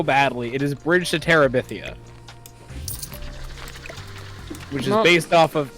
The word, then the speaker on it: Terabithia: it because uh the name you print you butchered it so badly it is Bridge to Terabithia which is based off of which is based